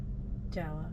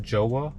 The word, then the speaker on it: Jawa: to you by Jawa how do you say this Jawa not joah oh my God only